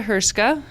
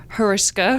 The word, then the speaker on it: Heriska: We went from Melissa Herska from Catholic Charities. You want to try again? Heriska. There you go. I mispronounced her name.